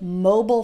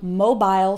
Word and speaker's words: mobile: That's also why you'll hear both mobile phone and mobile phone. Which is correct? They're both correct. It's just a slight pronunciation difference.